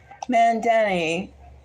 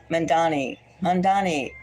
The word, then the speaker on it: Mamdani: This Mamdani, no, I'm saying it wrong again. Mamdani. That's right.